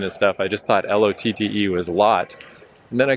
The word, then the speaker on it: Lotte: ride to the subway called it Lot Tower. But then I saw somewhere on YouTube or whatever that it's pronounced Lotte.